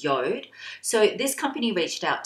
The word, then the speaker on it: Jord: it is um uh it looks like Jord but it's pronounced yod so this company reached